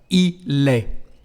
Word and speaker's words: il est: And because of this liaison, you can hear something like il est. It seems that the first letter of the verb is the letter L. Il est.